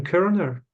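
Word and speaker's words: Körner: So Stefan Kerner was a Kant scholar writing in English. His surname is spelled Korner. Yeah, it's a German name, umlaut. Yeah. There's an umlaut over the O.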